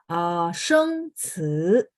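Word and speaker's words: 生词: Jadi sheng ci ya, ci dalam bahasa Mandarin itu bacanya ci ya, bunyinya ya, tapi karena ini ada 2 ya.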